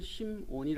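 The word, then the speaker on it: Σίμων: 있습니다 이제 저자는 시몬 헬라어로 시몬이 시몬이 시몬이라는 심온이 아고 이렇게 발음하는데 자신을 종이며 사도라고이 종은 헬라어로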